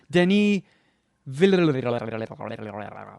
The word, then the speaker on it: Denis Villeneuve: Denis Villeneuve. I think it's officially pronounced Denis.